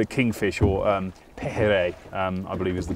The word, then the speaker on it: pejerrey: And this is, they call it kingfish, or pejerrey, I believe is the pronunciation of this fish here by the locals.